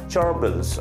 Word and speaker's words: gerbils: found in the first paragraph was gerbils g-e-r-b-i-l-s charbel's okay this is the pronunciation of this word and what is that